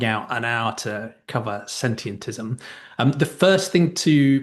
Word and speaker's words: sentientism: But um the easiest way I find to say it is to start with the word sentient, then take a breath, then just add the ism on the end.